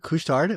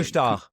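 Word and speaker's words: Couche-Tard: Is it kushtard? What is is that how you say it? Kustar. Is this kushar? Forget about the d.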